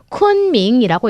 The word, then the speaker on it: 昆明: 여러분 이 지명은요. 쿤밍이라고 읽습니다.